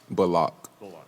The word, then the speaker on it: Bullock: to get it right would you mind sharing the proper and preferred pronunciation of your last name um my name is uh reggie bullock block block i'm sure you know